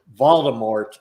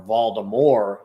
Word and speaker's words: Voldemort: potter would have defeated voldemort or voldemort is actually the way it's supposed to be pronounced um if it wasn't